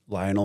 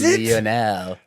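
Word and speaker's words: Lionel: and the Giants, uh inspired by soccer legend Lionol Messi. So once again, welcome. Thank you. And fantastic introduction, but you mispronounced Leonel Messi. It's Leonel.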